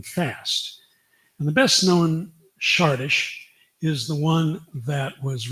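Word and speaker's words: Csárdás: And this is a well-known tune in the classical literature called Sardis.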